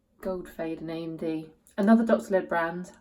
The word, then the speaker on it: Goldfaden: I was talking about this today and someone pronounced it correctly. Goldfaden AMD.